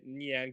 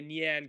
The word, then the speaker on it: Nyan: the other neon Community I keep saying it wrong I'm saying for too real I've been saying it long wrong for too long that now it's hard to break that habit the nian community um well first of